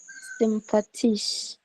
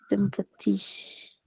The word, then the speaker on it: sympathisch: alle finden sympathisch. Und alle finden hier sie Sie sympathisch. sympathisch und nicht sympathisch oder sympathisch? Ist sympathisch. Sympathisch. Sympathisch. Sympathisch. Like T-Y, like U is like U, Y, like cheap, like type is cheap.